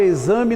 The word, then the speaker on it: exame: x pode ter o som de z na palavra exame o x1 song zhe na palavra exame nós temos cinco letras nós temos cinco fonemas não se altera nada a ver pesado x se pronunciado como se fosse um z ainda assim o número